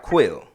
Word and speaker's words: Qil: name is quit I'm pronouncing that right quill right just not spelled with the U is qil right